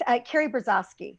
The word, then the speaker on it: Karrie Brazaski: And it's Karrie Brazaski.